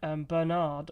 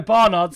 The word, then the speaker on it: Barnard: um bird natto and Bernard obviously got theirs from um on lap zero so sorry don't no Barnard sorry said it wrong um first um in